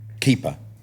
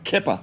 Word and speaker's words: Keepa: up did I say that correctly you did keeper keeper keeper because I've heard it pronounced I've heard it pronounced keer before yes um it's not that though it